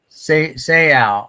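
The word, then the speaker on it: Seau: Seal.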